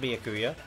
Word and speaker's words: Byakuya: Why was Byakuya's body It's pronounced Byakuya.